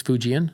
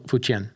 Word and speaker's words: Fujian: Speak Fujian, which is useless here.